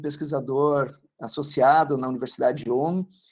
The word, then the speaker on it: Ulm: É essa a pronúncia? Tá. Isso. Trabalhou como pesquisador associado na Universidade de Ulm e hoje é professor do IB da USP, né?